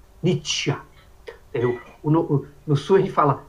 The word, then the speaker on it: nitya: no sul do Brasil, a pessoa tem o hábito de pronunciar palavras dentais como se fossem cerebrais, fala Nitya, Nitya.